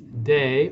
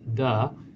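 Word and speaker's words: 德: The next word is de, or I think it's pronounced da, which means moral force or attraction.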